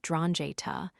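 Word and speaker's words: 'Ndrangheta: Daio pronounced it donja with just a hint of an N at the beginning.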